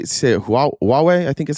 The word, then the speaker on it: Huawei: Huawei and Xiaomi are in every car.